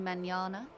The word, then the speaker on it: mañana: I think he said it was, call me mañana. Mañana. That's how you say it.